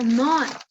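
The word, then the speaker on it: נח: Nos dice que el nombre de Noé en hebreo se pronuncia Noah.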